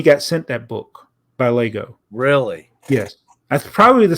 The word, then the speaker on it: LEGO: a radio read had the pronunciation for Lego l a y g o Lego that's how you pronounce it that's how they wanted